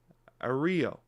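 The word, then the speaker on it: Irayo: Ario. Norm comically exaggerates the pronunciation.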